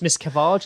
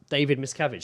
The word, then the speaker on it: Miscavige: It's Miss Cavage, isn't it? Or Cavage? Miss Cavage, isn't it? What? David Miscavige, like the face of Scientology.